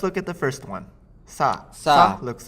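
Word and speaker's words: さ: Sa. Sa looks like a slightly weird, curvy sign. Now, the pronunciation of sign, at least the sa part of sign, is similar to sa, even though it's spelled with si in English.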